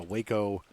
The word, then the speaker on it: Waco: It's a Waco. Most people just call it the Waco or Waco. However, I think it's Waco is how you pronounce it. But Waco, Texas.